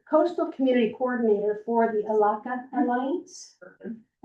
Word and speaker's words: Elakha: If I don't pronounce it correctly, please do correct me. I was the coastal community coordinator for the Alaka Alliance.